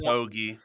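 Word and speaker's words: Hoge: It's pronounced Hoagie. Tom Hoagie plus top 20 plus 120 at Bovada as well.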